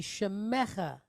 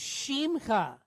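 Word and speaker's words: שמך: So shimcha, no, that would be shemecha. This is shimcha. That's simcha, yes. This is shimcha. That's why it's important to listen for the S versus the SH.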